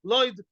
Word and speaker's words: Lod: Belod, Lod, the people of Lod, Tagore Lod, the famous Tagore Lod, the merchants of Lod, they say Lud, but in proper Hebrew say Lod, by the way.